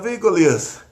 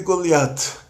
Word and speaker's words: Goliat: No hebraico de Israel, que é o hebraico dos Faradim, o hebraico dos países árabes, o hebraico que a maior população de Israel fala, o Taf com pontinho ou sem pontinho é pronunciado como T. Aí já é a influência do árabe. Então fica David e Goliat.